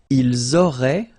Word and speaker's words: ils auraient: the two, vous auriez, and then ils auraient, little link, but then look, A-I-E-N-T like that, and you only pronounce E, like we had here. It will be exactly the same pronunciation here. Ils auraient, elles auraient.